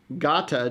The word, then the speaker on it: Gata: uh Persian or Iranian dish called Gata g-a-t-a so if you're Googling it you probably won't find Armenian yeast rolls but if you go and you search gotta g-a-t-a or I think the